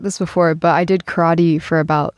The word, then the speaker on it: karate: And you pronounced it karate like we do in America, but the correct pronunciation is karate.